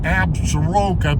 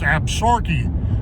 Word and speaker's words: Absaroka: that's the absorkees some people pronounce it absaroka but it's absorkey that's an indian word